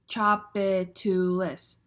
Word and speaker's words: Tchoupitoulas: three syllables what about Tchoupitoulas Street like in New Orleans Chah Bay two lists Tchoupitoulas four syllables now sometimes when you're